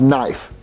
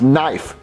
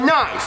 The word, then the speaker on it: knife: Well, Jeffy, it's pronounced knife. No, it's not. There's a K, so you pronounce it knife. Well, Jeffy, the K is silent.